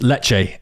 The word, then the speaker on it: leche: we're gonna taste it pronunciation it's leche it's Spanish milk leche de cabra let